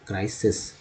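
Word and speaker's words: crisis: पहला आई जो है आई के रूप में इस्तेमाल हुआ, दूसरा आई जो है वो ई के रूप में इस्तेमाल हुआ उच्चारण में, क्राइसिस।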